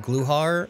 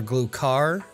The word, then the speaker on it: Gluhar: And if you don't know if he's called Gluhar or Glukar, either is technically correct.